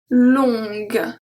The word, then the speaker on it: longue: After G, we don't pronounce the U. We have la langue. La langue. Longue.